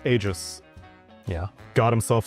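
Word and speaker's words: Aegis: g I s was being regularly pronounced or mispronounced depending on your perspective as Aegus. And then Ice Frog came in added the tool tip. It's pronounced a Y-jis. It's agis.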